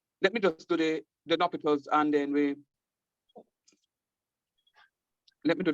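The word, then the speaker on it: L'Hôpital: It's not hospital. And a L rule. Well, if you want to call it the L rule, that's fine. But it's pronounced L'Hopital's, right?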